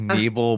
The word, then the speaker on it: Nebel: sitting down with Bob Nebel. I hope I pronounced your last name right. We usually use the long E. It's Uh, Nebel, but there oh, there